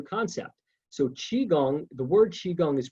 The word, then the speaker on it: qigong: so qigong the word qigong is pronounced chi as in c-h-e-e uh the second word is kong like k-u-n-g or k-o-o-n-g it's a